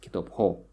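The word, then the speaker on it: китобҳо: You see, the stress falls on the suffix, Kitop ho.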